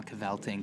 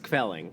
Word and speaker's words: kvelling: you want some more cavelting, come and just give me a ring." It's pronounced Kvelling. Kvelling, Yes, excuse me.